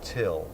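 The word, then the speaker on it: Thgil: and Fit Yogurt carton my name is till it's spelled t h g i l but it's pronounced till so Neil goes back to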